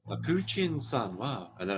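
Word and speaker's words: プーチン: the thing with like in the Japanese um pronunciation there's no like T sounds that we use Chi so Putin becomes puchin and it sounds so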